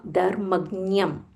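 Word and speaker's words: धर्मज्ञम्: There is a half um na Brahman yam sarva sarva dharmagyam dharmagyam This is nya dharmagyam dharmagyam um mahaprana dha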